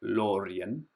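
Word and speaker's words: Lórien: Um so, I will maybe write in the comments what that means, but you pronounce it Lorien.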